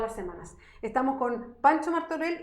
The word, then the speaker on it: Martorell: Está pasando por Martorell, en realidad. ¿Martorell? Claro, ¿Ah, sí? así se pronuncia.